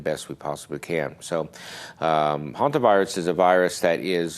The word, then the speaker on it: Hantavirus: the first slide about Hantavirus, and as you can see, it's not like the haunted spelled. It's spelled Hantavirus, but it normally the